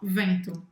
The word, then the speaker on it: vent: E vento, então, como é que é? Un vent. Vent, bem fechado.